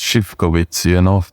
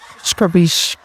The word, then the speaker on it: Zivkovics: The surname is pronounced Zivkovics, So for Jamaicans, I would say to pronounce it, you think you're my office. Scribish.